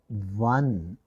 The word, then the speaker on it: one: at the word one the word one begins with the sound wa but the letter o